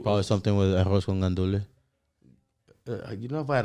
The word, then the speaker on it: gandules: I'm just confused, man, because the Puerto Ricans don't pronounce the S. Exactly. Yeah, technically, there's an S back there, but Joe, when you say it fast, you just don't say the S.